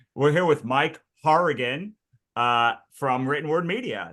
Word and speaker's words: Hourigan: I'm usually the one who has the the name that no one can pronounce, but like we're going to say we're here with Mike Harrigan uh from Written Word Media.